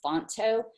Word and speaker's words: Phonto: Another one besides Word Swag that you can use for that is called Fonto. It's spelled Phonto.